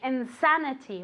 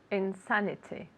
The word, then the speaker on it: insanity: very good Insanity Insanity again with the accent on the a Insanity one more time very good let's get Marina to say this word again Insanity very good pronunciation I